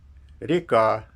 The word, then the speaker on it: река: Например, река, ударение на последний слог, рекам, ударение на первый слог, вода, воду.